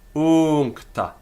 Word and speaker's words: uncta: Uncta has got a long u, but it's a long syllable anyway. So it makes no difference to us if we pronounce it long or short. I mean, it's obviously incorrect to pronounce that u short, but in terms of syllable length, it's not affected. Uncta.